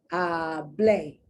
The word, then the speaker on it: hablé: It's hablé. You hear the accent on the E.